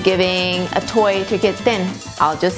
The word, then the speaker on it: ten: spell it te n thin so but make sure and not save 10 as in the number 10 listen to the difference 10 then 10 then so it's very short and dry then it